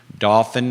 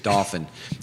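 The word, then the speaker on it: Dauphin: i'll give you the address again it's 26 dolphin drive it's not a real address you can't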